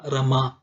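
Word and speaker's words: رمى: അൽകുറത്ത് റമ ഹഷിയ സെർവ റമ എന്ന് പറയുമ്പോൾ എഴുത്തിൽ യാ ആണ് നാം കാണുന്നത് എന്നാൽ ഉച്ചാരണം ആണ് പരിഗണിക്കുക റമ അതിൽ അലിഫ് ആയിട്ടാണ് ദുർബലാക്ഷരം അലിഫിൽ അവസാനിക്കുന്ന ക്രിയയാണ് എന്നാണ്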